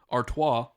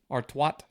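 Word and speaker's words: Artois: to each their own the actual pronunciation is Arta but some of you might say artat arto that's what they say when they don't know how to pronounce it artat artat 600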